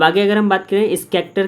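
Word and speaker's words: Schachter: ठीक है, अब आगे अगर हम बात करें स्कैक्टर का, तो अभी हम लोग इमोशंस की थ्योरी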